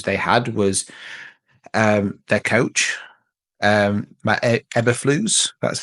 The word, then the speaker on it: Matt Eberflus: And I think one of the biggest issues they had was their coach, Matt Eberflus. That's how you pronounce his name.